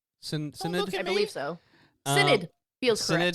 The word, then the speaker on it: Synod: Is that how you pronounce that? Synod? Synod? I believe so. Synod feels Synod, correct.